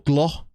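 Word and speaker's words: Gloukh: Oscar Glue inside, or Gloh, as people are telling me to say his name.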